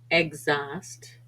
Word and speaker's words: exhaust: r ime rhinoceros rhubarb often silent after X for example exhibition exhaust and exhume and sometimes but not